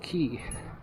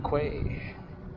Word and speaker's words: Quay: West the new West Key some people say The Quay because it's spelled q u a y right you'd think that'd be Quay sorry my throat's a